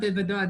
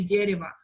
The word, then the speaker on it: дерево: what is meant by, oh, no, that's not Davudo, that's not how you say it. You say дерево.